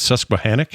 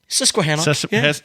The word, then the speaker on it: Susquehannock: The book is called, I'm going to say this wrong, but I think it's Susquehannock. Am I saying it right? Susquehannock. Susquehannock.